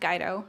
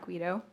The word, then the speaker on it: Guido: It is pronounced Guido, not Guido.